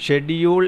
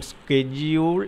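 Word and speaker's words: schedule: auditorium S കെ ഓഡിറ്റോറിയത്തിൽ നമ്മൾ ഷെഡ്യൂൾ എന്ന വാക്ക് ഷെഡ്യൂൾഡ് ഷെഡ്യൂൾ എന്നൊക്കെ പറയുമെങ്കിലും യഥാർത്ഥ ഉച്ചാരണം സ്കെഡ്യൂൾ എന്ന എന്നാണ് പക്ഷേ നമ്മൾ മലയാളികൾ ആ രീതിയിൽ ഉച്ചരിച്ച് കേൾക്കാറില്ല സ്കെഡ്യൂൾഡ് എന്നാണ് ശരിക്കും അത് വായിക്കേണ്ടത് അടുത്തത് ഐ വാസ് നോട്ട്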